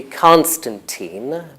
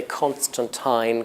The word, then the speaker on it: Constantine: Well, I say Constantine. Well, in American English, it's usually Constantine, but British people can say Constantine, Constantine. They're both acceptable.